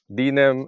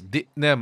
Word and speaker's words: Dinem: Dinem Island. Well, the proper pronunciation is DNE Island.